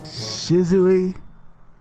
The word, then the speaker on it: Shizue: Shizue Kuro. Shizue Kuro. Okay. That's it. Because off camera, I pronounced it as Swiss Shizue Swiss cheese. Kuro. And that was obviously wrong. Said Swiss cheese. It's Shizue.